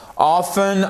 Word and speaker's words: often: Often, often, vous pouvez adopter la prononciation qui vous plaît, que ce soit en anglais américain ou en anglais britannique. Pour une fois, là, il n'y a pas de différence.